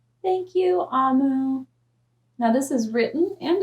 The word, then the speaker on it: Omu: right here that says note to the reader amu pronounced is the igbo term for queen well amu